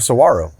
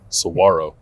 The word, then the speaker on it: Saguaro: that looks like a saguaro it's a fancy W yeah that g is silent folks Saguaro yeah it's not a saguaro that's that's good information